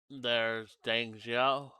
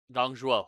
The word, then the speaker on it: Dong Zhuo: There might be repeat battles, and I say that because, well, there's Deng Xiao, whatever his name is, Dong Zhuo. I think that's how you say his name. Dong Zhuo, Lu Bu, and Diao Chan, who all made their appearance in Hulao Gate.